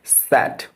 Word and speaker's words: said: তো SAID এটার correct pronunciation হচ্ছে স্যাড। স্যাড, আমরা যে SAD স্যাড, এর মতো উচ্চারণ হবে, এর মতো, ওকে।